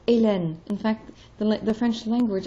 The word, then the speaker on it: Hélène: So you have words like Hélène. In fact, the French language as it evolved was more Hélène, beginning with E. And then they put in the H, and the H is silent. So Hélène.